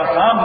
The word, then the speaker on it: Psalms: Psalms is Psalms. صحیح spelling ہے دیکھیے بھائی PSALMS. P پہ کیوں سائلنٹ ہے L پہ کیوں سائلنٹ ہے ایسے جب Psalms صحیح Psalms of David بھی ہوتا ہے.